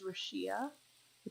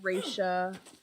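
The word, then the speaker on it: Rashia: I'm really sorry my my first name in in real life is Russia ax just about Shi and um lot of people always say it wrong I've had raesha Russia I've heard all kinds of things people don't know how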